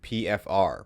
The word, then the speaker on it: PFFR: with Brooklyn Art Collective pfr pronounced with only one f yeah pfr started in